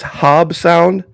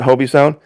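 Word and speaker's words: Hobe Sound: And I guess it's Hob Sound. I had pronounced it Hobie Sound.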